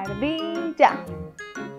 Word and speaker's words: ardilla: encanta la palabra ardilla tiene tres sílabas ard ya la primera sílaba la formamos con las letras a y r que suenan ar la segunda sílaba con la letra d y la letra i y juntas suenan di Y por último las sílaba ya que la formamos usando la letra doble L y la a ardilla perfecto lo logramos